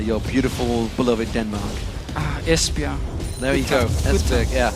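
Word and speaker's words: Esbjerg: beautiful beloved Denmark ah espia there you go es yeah it was actually one is that how you pronounced it I I said esberg I do es espia there we go today I learned well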